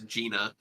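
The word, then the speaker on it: Jena: a town name correctly apparently it is not Jenna it is Gina um so just just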